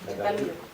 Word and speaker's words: Çatalhöyük: cuando vi imágenes de, no sé si lo pronuncio bien, Çatalhöyük, sí, Çatalhöyük.